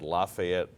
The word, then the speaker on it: Lafayette: two words Lafayette Leopards I had a lazy L and I could not pronounce the letter L properly really and it really it got me to really work on can you imitate it what did it sound like it sounded like coffee up efforts kind of like